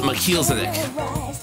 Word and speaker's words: Melchizedek: Yeah, it's Melchizedek.